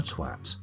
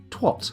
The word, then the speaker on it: twat: What a twat. Or as Americans inexplicably pronounce it, twat, because obviously that's an O, not an A.